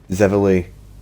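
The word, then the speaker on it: Xivilai: What this has taught me is that those words are pronounced Zivili, Orgrims, and even Scamps.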